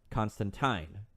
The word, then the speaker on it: Constantine: comics, I'm going to refer to him as Constantine because that's how his name is actually pronounced.